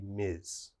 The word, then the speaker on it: Ms: and this one mr any man is mister and every woman should be miz let's take a look